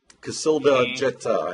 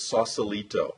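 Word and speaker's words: Cacilda Jethá: of the book sex at dawn right yeah Casilla Jetta is how you pronounce that everyone shied away from from saying her name I had did one interview and the guy actually pronounced it Sausalito I have no idea how he got to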